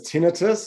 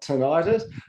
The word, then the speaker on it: tinnitus: And the final question from Bev, and I'll pronounce it correctly this time as tinnitus, not tinnitus.